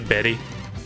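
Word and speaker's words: Beli: the way beo I you would think that would be pronounced as belly but it's actually Betty that's like the currency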